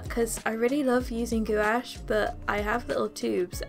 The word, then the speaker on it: gouache: gouache layers on top I know people say gouache and I think that's the proper way to say it by the way but I've grown up saying gouash because that's what one of my teachers said so I'm just gonna say